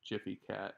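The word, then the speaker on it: Gfycat: kinda like jiff like the peanut butter but jiffy cat so this is what this is so if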